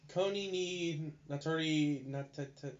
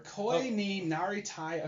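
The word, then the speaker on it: 恋になりたい: This is Koni ni Natori whatever. Koi ni Naritai Aquarium.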